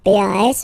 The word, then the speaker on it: pas: Okay, we write it P-A-S, okay, but as usual, final S is not pronounced, so it's pas.